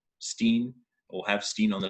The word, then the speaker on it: Steen: There are very few wines still in South Africa that are called Steen or have Steen on the label. Steen, or how we pronounce it, Steen, essentially means a stone.